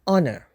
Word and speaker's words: honor: and University hour and honor start with a consonant but the H is silent giving us a vowel sound so we would use the article an before these nouns an hour and an honor likewise Union and University